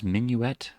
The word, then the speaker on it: Minuet: Which one is Minuet? And am I pronouncing the name correctly? I may not be. Let me figure that out. I am apparently saying it correctly, and also the reason